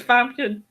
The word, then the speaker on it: Famke: Famke Johnson. Okay, see, I it's hard to pronounce her name. It's Famke.